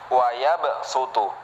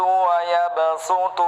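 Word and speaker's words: وَيَبْسُطُ: Jadi kalau ada tanda sin di atas, maka sod itu dibaca sebagai huruf sin ya. Wa yabsutu dibaca tipis.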